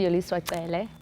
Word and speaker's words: Yoliswa Cele: So my name is, I like the way you pronounce my name, by the way, but it's actually Yoliswa Cele. Yeah, with a click. Yeah, with a slight click.